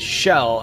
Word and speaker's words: Chell: Yeah, okay, so it's Shell if it's short for Michelle, but I believe it's actually short for Marcella.